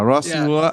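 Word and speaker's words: Rosław: It's ROSL with a slash AW. Roslov? Polish? Yeah, Roslov. I think it's a L sound.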